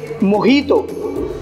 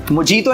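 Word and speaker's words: mojito: इसको हम पढ़ेंगे मोहितो मोजीतो नहीं है ये क्या है मोहितो Yes, सही सुना आप लोगों ने तो जे जे इसको हम एच का साउंड प्रोनाउंस करते हैं तो इसको हम पढ़ेंगे मोहितो so last but नॉट द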